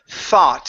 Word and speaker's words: thought: go to the word thought instead of feu vote ok this is an ah sound far thought not ok good so this